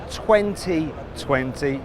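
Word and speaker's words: 20V20: one it's the sayat 2020 now it's written 20 v20 don't pronounce the V cuz it's stands for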